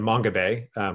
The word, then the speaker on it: Mongabay: So I called it Mongabay, which is, you know, an anglicized pronunciation and spelling of this island.